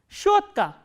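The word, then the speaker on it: щётка: Shotka.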